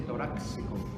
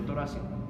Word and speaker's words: torácico: región torácica Recuerden que si bien tórax es con x torácico no es ni con x ni con doble c Entonces no se dice toráxico sino torácico así estico de acuerdoa con una sola c y tenemos que ser